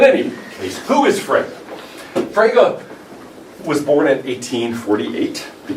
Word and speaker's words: Frege: he's this guy and eventually oh you mean fraga okay there are certain terms and especially names in philosophy that you have to pronounce correctly or you sound dumb okay like